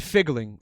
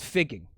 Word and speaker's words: figging: from me actually like pronouncing a word the wrong way. Right. You found out that figgling is actually a thing. But they don't. But almost, because this is called figging.